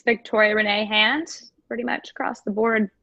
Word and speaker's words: Renee Hand: It's Victoria Renee Hand, pretty much across the board. Yep. Victoria Renee Hand. Awesome. Did I just say my own name wrong? Victoria Renee Hand. R-E-N-E-E-H-A-N-D, like the appendage.